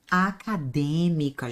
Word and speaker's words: acadêmica: Eu tenho aqui, ó, é uma premiação acadêmica, gente. Acadêmica. Essa ela é a sílaba forte. Acadêmica. A sílaba forte é a antipenúltima.